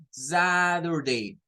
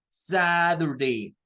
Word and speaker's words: Saturday: Entonces, distingan la pronunciación de esa T y esa D, porque es una característica de los norteamericanos. El norteamericano promedio le va a decir a usted el día sábado con el sonido Saturday, Saturday. Un inglés neutro lo va a pronunciar como Saturday. Un británico, los británicos lo pronuncian con la T.